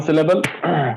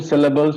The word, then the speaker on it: syllable: will always be there like here we don't say syllable it is syllable so that cell gets these stress syllable it's reliable we